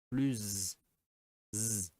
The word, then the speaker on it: plus: Quand le mot suivant commence par une voyelle, on prononce plus z.